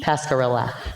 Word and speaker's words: Pasquerilla: to be preferred is your name pronounced pasquerilla or pascarelli pascarella okay just making sure because